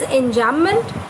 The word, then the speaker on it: enjambment: So this is an example of enjambment, and it is spelled as ENJAMBMENT.